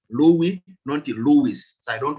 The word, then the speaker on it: Louis: you understand i believe some people call this money lewis but um i don't think it should be pronounced that we are talking about louie monty lewis so i